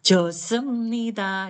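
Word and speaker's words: 좋습니다: apa jemnita Gitu ya josemnida Gitu ya h-nya jangan dibaca ya Heeh ditapuk ng Cang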